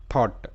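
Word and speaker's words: thought: এর উচ্চারণটা থ আর ও ইউজি এইচ টি এর উচ্চারণটা হবে অট যেটা আমরা শুরুতে দেখলাম তো থ আর ও ইউজি এইচ টি অট থ অট থট তার মানে এটার উচ্চারণটা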